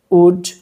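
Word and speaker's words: would: এই ভুলটা করে দেখো এল এবং ডি শেষ বর্ণে থাকলে এল এর উচ্চারণটা হবে না তাহলে উচ্চারণটা হবে কি সুড উড মাইট তাহলে মে পাস্ট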